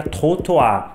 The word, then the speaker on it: trottoir: A pronúncia correta até seria trottoir, mas eu vou falar trotuar na maior parte do vídeo para todo mundo entender.